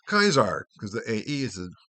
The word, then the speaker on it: Caesar: is spelled c a s a r is pronounced kaisar because the AE is a dipone that is